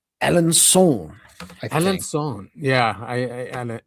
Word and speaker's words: Alençon: Alençon. Yeah. Alençon, because it has an accent on the C.